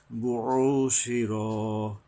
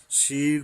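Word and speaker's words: بُعْثِرَ: বুশির, বু, এরপরে এই যে আইন আসছে, গলা চেপে, বুশির, শির পরে আবার র, এখানে আকার হবে না, শিরা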